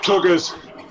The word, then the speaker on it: Tugaz: It's pronounced, It's pronounced tuggers.